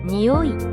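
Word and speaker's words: におい: 예를 들어 니오이, 라는 단어를 볼까요? 냄새라는 뜻의 이 단어는 오 발음을 높게 합니다.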